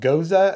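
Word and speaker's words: Gose: one and I've got this one that's called goza is how you pronounce it all right so what I'm going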